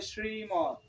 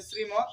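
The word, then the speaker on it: শ্রীমদ্: যখন তোমরা পাঠ করবে তখন অবশ্যই শ্রী বলবে না শ্রীমত বলা যাবে না শ্রীমদ অর্থাৎ জীবটা উল্টিয়ে শ্রীমদ ভগবত গীতা ঠিক আছে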